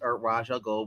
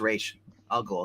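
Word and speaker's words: Ra's al Ghul: gold whatever you prefer I know there's like two different pronounces but I've always pronounced it as as rage I'll go because that's what the Batman anime series did anyway uh it's racial gold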